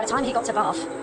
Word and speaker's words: Bath: And by the time he got to Bath, Americans say Bath, I don't think it was